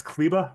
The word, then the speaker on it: Kleber: So the two players we can give you are, you said it's Kleba, right? Is how you say it? It's Maxi Yep, Kleba.